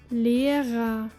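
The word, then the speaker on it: Lehrer: word Gaba meaning gift but then there is the ending which in German sounds more like ah ah listen to this word meaning teacher lira adjusting the subtle pronunciation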